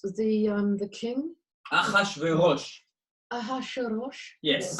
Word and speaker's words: Ahasuerus: How do you pronounce the king? Achashverosh. Ahasuerus? Yes, Ahasuerus.